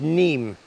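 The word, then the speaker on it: Niamh: it wrong three times I think it's spelled n-i-a-m-h I think it was neem that's what it is sweetheart I saw her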